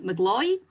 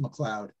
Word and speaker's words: McLeod: I'm sitting here thinking mcgloy uh well it's pronounced many different ways by different people but it's properly pronounced McLeod McLeod yes well we